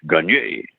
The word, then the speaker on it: Gagne: That's the way they pronounce it in Boston anyhow, but it's really supposed to be a little accent goo after the E for the French Gagne.